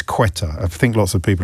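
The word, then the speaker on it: Ceuta: It's quetta.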